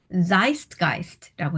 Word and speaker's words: Zeitgeist: 발음도 독어식으로 하고요. Zeitgeist라고 읽는다고 하네요.